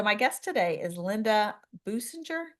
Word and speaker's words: Boosinger: guest today is Linda boinger did I pronounce that right boinger it sounds okay boo singer so it's not really